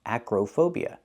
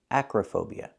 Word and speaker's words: acrophobia: heights that's called acrophobia the word is not pronounced acrophobia the O in the middle does not make the long o sound like no and go it's not acrophobia it's pronounced Acra Acro phobia the O in the middle is pronounced with a short uh sound like cup and up Acra relaxed and closed uhuh Acra acrophobia is the correct pronunciation and it means a